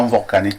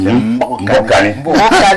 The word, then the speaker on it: Mbokani: Il faut prononcer comme ce n'est pas Mvokani, c'est Mbokani. Je dis merci à tous